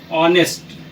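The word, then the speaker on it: honest: में लिख सकते हैं ऑनेस्ट। तो ऑनेस्ट यानी अ का प्रयोग जो है, यहाँ एच का प्रोनाउंसिएशन अ से हो रहा है स्टार्ट, तो ऑनेस्ट हुआ, इसलिए अ जो है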